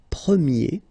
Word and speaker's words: premier: change quite much, because if you think about the masculine form, you pronounce it premier, okay? Premier. And then for the feminine form, you will get première, okay? So it's open, this eh sound.